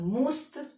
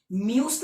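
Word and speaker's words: musst: ठीक है, म्यूस्त मत पढ़ लेना, क्योंकि म्यूस्त तब पढ़ते जब यू उमलाउट हो, जब 2 डॉट ऊपर आ जाता है ना यू के, तो उसको नीचे से आवाज से पढ़ते म्यूस्त, पर यहाँ पर यू उमलाउट नहीं है तो मूस मूस्त ऐसे पढ़ेंगे।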